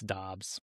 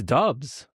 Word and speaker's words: Doubs: So yeah, it's uh it's Dobs. It's Dobs. You know, it's actually Dobs.